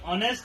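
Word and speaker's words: honest: ऑनेस्ट में क्या है? एच जो है सो साइलेंट है, लेकिन क्या है वहाँ पे ओ आता है। तो ओ क्या है? वो है वॉवेल है, लेकिन इसका साउंड क्या रहा है? ऑनेस्ट।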